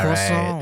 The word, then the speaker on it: croissant: Because it must be To be honest, it's pronounced French lah, croissant.